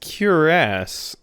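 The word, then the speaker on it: cuirass: it's actually it's pronounced curasse I always heard I heard it from multiple sources that it was pronounced like queerus but kiras it sounds like cure ass interesting interesting I always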